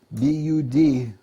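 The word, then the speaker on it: Budh: much but in India it's called Bud b u d probably pronounce it Bud buh b yeah o DH that's where I left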